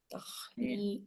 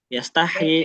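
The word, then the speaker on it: يستحيي: Ngalir dulu semuanya. Nggak ada yang terlalu cepat. Nggak yastahi, tapi yastah, yastahyi. Sama kayak tadi ya, kaidahum.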